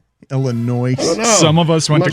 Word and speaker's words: Illinois: illinois illinois illinois yeah what do you do with the s there silent it's silenced you guys it is huh illinois some of us went